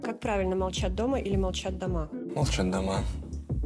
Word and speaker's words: Молчат Дома: Molchat Dama notamment, attention à ne pas se tromper sur la prononciation. Как правильно, молчат дома или молчат дома?